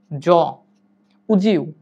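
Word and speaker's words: would you: tend remember one thing যখন কোন একটা ওয়ার্ড ডি দিয়ে শেষ হয় এবং ইউ দিয়ে শুরু হয় এর উচ্চারণ জ like উড ইউ উড ইউ না বলে এটাকে আপনি বলবেন জুজি সেম একইভাবে কুড ইউ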